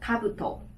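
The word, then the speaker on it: 兜: 那这个帽子是比较多人会放的，我们念作 kabuto, kabuto。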